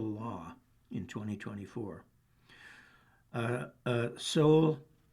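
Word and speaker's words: Seoul: Uh uh Soul, that's spelled S E O U L. Soul I think it's a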